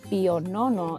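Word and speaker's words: Pio Nono: Viene de Granada, España, en honor del Papa Pío IX, que se pronuncia Pío IX en italiano.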